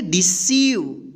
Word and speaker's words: deceive: E उच्चारण होगा, यानी बड़ी E की हम उच्चारण करेंगे मात्रा, ठीक। यहाँ पे देखिए रिसीव, यहाँ पे देखिए DECEIVE, इसको क्या पढ़ेंगे? डिसीव।